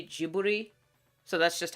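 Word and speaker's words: Ghibli: Um, I really like Gibbery movies or some people pronounce it Gibbly films. I know that's how we pronounce it in America, but I did look it up. In Japan, they say Jiuri, so that's just how I've been saying it.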